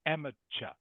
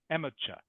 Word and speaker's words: amateur: my okay this is a friend word it's pronounced amateur amate amate good amateur amateur good and the next one ding bing